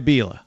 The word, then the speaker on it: Bila: Okay, Jedediah Bila. That's how you say her name.